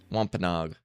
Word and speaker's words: Wampanoag: How do you pronounce this? You're looking at how to forgive American people 17th century, but today, Wampanoags. Wampanoag.